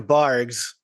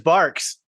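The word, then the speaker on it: Barq's: So I'm not saying- 22 milligrams of caffeine per 12-ounce can of Bargs root beer. Yeah, dude. Sean, there's a Q at the end. And You're pronouncing a Q as a G.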